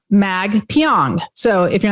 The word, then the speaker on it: Magpiong: to pronounce his name it's like exactly how it sounds mag pyong so if you're not